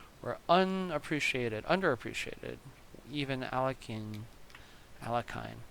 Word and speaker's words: Alekhine: unappreciated under appreciated even alekhine alekhine al yakin that's a proper way to say this name and it boggles my mind al yaiken and a